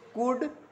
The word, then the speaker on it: could: और एक चीज़ और याद रखना, जैसे कुड, इसको कुल्ड नहीं बोला जाएगा, एम साइलेंट हाँ एल साइलेंट होता है, ध्यान देना, है ना, कुड बोला जाएगा।